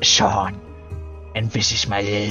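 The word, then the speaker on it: Seam: don't have anything back under the name see pronounced Shawn and this is my little shy sheep sheep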